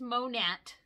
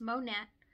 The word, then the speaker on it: Monat: you choose monette and yes it is monet makes me think of mo gnat because it's short for modern nature that is indeed how you pronounce it for longest time in my anti-mlmness i always thought it was monet but no it's monette what made you choose